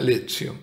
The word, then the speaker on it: lectio: Me preguntarán muchos qué es la Lectio Divina. Se escribe lectio, se pronuncia lectio.